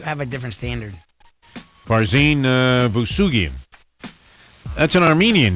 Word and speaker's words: Vousoughian: Farzin Vousoughian.